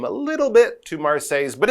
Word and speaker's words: Marseille: how you pronounce it those L's especially in the middle they are silent so it's not Marci it's Mar like I say your